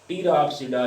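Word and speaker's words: Pteropsida: और fourth one इज़ दी टीरोप्सिडा, पी यहाँ पे अगेन जो है वो साइलेंट है। टीरोप्सिडा ये एडवांस डिवीजन है,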